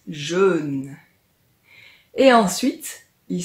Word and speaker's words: jeûne: Ce sont deux mots qui se ressemblent beaucoup, mais le jeûne dont on va parler aujourd'hui se prononce un peu différemment. Écoute, on dit jeûne.